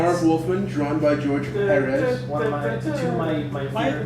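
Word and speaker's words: Pérez: Marv Wolfman, drawn by George Perez. One of my favorite. Why is it Perez? Because the accent is on the first syllable.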